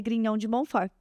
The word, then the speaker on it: Grignion de Montfort: De São Luís Maria Grignon de Montfort. Certo? É assim que pronuncia?